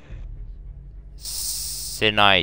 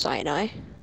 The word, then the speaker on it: Sinai: Sinai Desert. Oh God. It's actually pronounced Sinai.